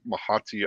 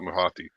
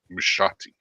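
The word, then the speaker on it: mouhotii: cor mahati opsy actually I think I mispronounced it's not miti I was reading somewhere I say yeah I was reading somewhere that it was named after a French yeah environmentalist and they were saying that the way they way the French would pronounce it was something like mushati like that so you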